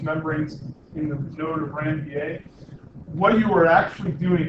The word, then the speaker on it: Ranvier: I know it looks like it should be pronounced Ranvier, but it's actually named after a Frenchman who discovered these inner nodes and in the nodes. So it's the node of Ranvier.